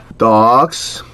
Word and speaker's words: dogs: Dogs. 독도 이거 독. 독이라 이 독하고 닭하고 중간 사이 발음이 납니다, 이거.